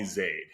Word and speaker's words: Zaid: what you said yeah my name has like three or four different pronunciations which is really annoying yeah what what's your preferred way to pronounce it how do you introduce yourself most people call me Zade Zade okay all right